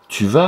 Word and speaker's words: vas: Où tu vas. Ah, le S encore. Dans le verbe aller, va. Je ne l'ai pas prononcé, il fallait l'entourer. Tu vas, à nouveau. Il fallait entourer le S de va, je ne le prononce pas.